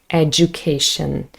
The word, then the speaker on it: education: Now, education can also be pronounced education, but very often when we speak fast, it actually becomes a j, education.